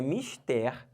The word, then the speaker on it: mister: aqui olha que interessante a gente pensa que tá falando de uma outra coisa Tá falando em inglês mas não mistério é a palavra do português então é uma palavra oxítona tá olha para cá